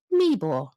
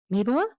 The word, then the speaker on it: Meeboer: today all the way from Canada by Lori me meor I just asked you how to pronounce that Lori I do I've even written it phonetically right Lori meore meore that closing off that's sorry Lori right welcome